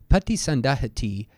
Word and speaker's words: paṭisandahati: before we go on Pati sundahati would end with a short I we have a long eye here because it is followed by this T marking the end of a quote or question in this case Tero